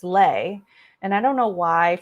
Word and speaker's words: Le: people get it wrong but my last name is lay like it's l e and a lot of